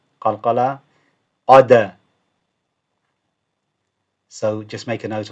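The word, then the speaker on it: قد: Qad. Again, if the dal it's got a sukoon, it makes a bouncing noise. Qalqala. Qad. So just make a note of that. One more time. Qad.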